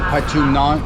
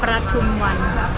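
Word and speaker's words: Pathum Wan: we're going to the one-stop visa center in Patumnan. How do you say that? Patumwan.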